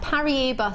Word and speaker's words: Paraiba: You're never going to get 95 carats of Paraiba tourmaline ever on Jewellery Maker.